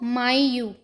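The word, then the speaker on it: maio: जा नेरू फरवर को फेवे रेु फेवे रेु मार्च को मार्सू मार्सू अप्रैल को आब्रयू आब्रयू मई को मयू माय यू जून को जून यून जुलाई को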